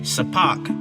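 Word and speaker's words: sepak: If you see a video, which I highly encourage you to look it up, it's spelled S E P A K Sapak and then T A K R A W.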